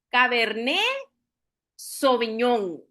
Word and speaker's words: Cabernet Sauvignon: Pronunciación de esta noche de la uva caberné soviñón. Okay. Nos obiamos la t, nos obiamos en la palabra sauviñón, todas las letras ahí eh que nos hacen trabón.